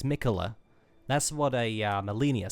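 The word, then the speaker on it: Miquella: I keep forgetting how to spell that, or how to pronounce that name, but it's Mikula.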